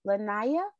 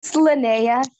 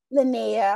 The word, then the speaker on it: Linnea: pronouncing your name right is it lanaya it's linnea lynnea i'm sorry thank you